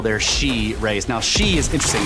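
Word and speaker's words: sidhe: Now she is interesting. It's spelled s i d h e, but it's pronounced shei.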